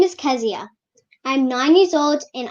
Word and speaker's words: Keziah: carry the correct spelling that's k-e-z-i-a-h pronounced at ask zia i'm doing this because when kazia makes it in the big time people would know how to properly uh pronounce your name is that correct kazia yes okay so i'm pronouncing it properly right at nine years old okay so i have been mispronouncing it all along oh my god kezia there you go so do we stress